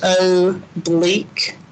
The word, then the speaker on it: oblique: may have been a while but this is pronounced o bleak so that's phonetically all right so oblique asymptotes